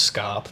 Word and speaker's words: scaup: And yeah, I know, it's meant to be pronounced scarp, but I just can't stop myself from saying scaup.